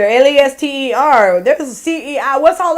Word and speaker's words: Leicester: Y'all call it Leicester, Lester.